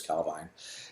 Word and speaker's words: Calvine: The Calvine UFO, Calvine, people pronounce it different ways. Nick said it's Calvine.